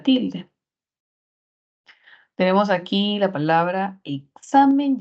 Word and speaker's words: examen: Miren, si identificamos la sílaba tónica en la primera palabra, sería examen. Si quisiéramos colocarlo en sílabas, sería examen. Tenemos tres sílabas y la mayor fuerza de voz no va en la E, porque si no sería examen.